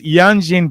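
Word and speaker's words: Yanjing: Okay, Yanjin Beer, and Alexa will normally have issues with the pronunciation of this beer, but it is Yanjin Beer, and I'm hoping that the our Chinese friends will let us know what it means.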